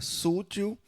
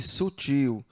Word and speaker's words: sutil: Sútil também, né? Ao invés de sutil.